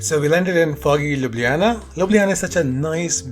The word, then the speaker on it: Ljubljana: L, so I kind of get like it would be Ljubljana. So people sometimes say Ljubljana. If they're in high, they might say Ljubljana as well, which is, I don't know